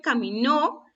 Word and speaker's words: caminó: La primera dice caminó, la segunda dice camino.